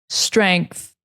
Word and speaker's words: strength: If you can see it, the tongue between the teeth. Strength, strength, like that. If you just say strength, you're not saying the whole word.